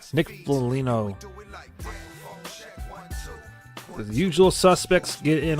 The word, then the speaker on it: Foligno: Nick Falangio gets the freaking goal on the power play. Oh my goodness gracious. Another tip in. Nick Foligno, pardon me, I've been saying it wrong. Nick Foligno.